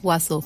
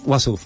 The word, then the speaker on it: Uassouf: Estamos hablando, repito, con Martina Matskin, directora, junto con Gabriela Ussouf, así, ¿no? Wasuf. Wasuf, lo voy a Tenemos, pronunciar.